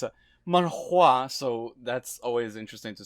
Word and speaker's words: manhwa: No, you gotta say it right. It's manhwa.